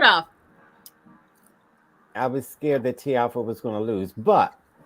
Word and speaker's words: Tiafoe: Is it Tiafoe or Tiafoe? Well, you Americans say Tiafoe, but it's Tiafoe.